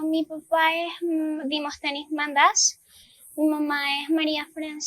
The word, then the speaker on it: Mantas: me llamo María l mata en griego se pronuncia mandas tengo 13 años en